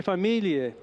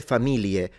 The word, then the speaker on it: famiglie: Or you pronounce it the northern way, which is an L, familie.